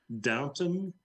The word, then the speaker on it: Downton: time on this so i'm going to try pronouncing it right downton is 40.